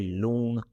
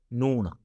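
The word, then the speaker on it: ਲੂਣ: And there another popular word is loon which is salt, but we don't say loon. We don't pronounce with l. We pronounce with n, all right? Noon.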